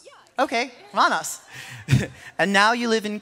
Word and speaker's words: Randers: Like Anas, but Randers? Yeah. Exactly. Okay, Randers.